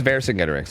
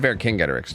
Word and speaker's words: Vercingetorix: Second one, soft C. So it is Vercingetorix. Interesting. I've heard Vercingetorix too.